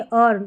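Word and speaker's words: earn: और वैसे एक spelling E ए आर एन। यह रहती है अर्न।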